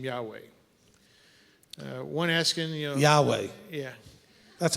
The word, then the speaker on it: Yahweh: It's Yahweh. There's no W in Yahweh.